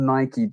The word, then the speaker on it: Nike: because it's definitely called Nike you I I know there's a misconception when you read it like Mike it's Nike it's not because the